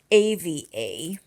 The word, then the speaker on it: Eva: Even though my name is spelled EVA, I pronounce it AVA.